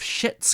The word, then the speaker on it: Schitt's: by the creators of Schitt's Creek. And I think I'm allowed to say that word in this context. Yeah, because you pronounce that, you put the C in there.